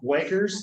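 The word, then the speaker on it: Buerger's: So first up, you have Weger's disease. Again, it looks like burger. If you can spell it, that's fine. It just makes me hungry.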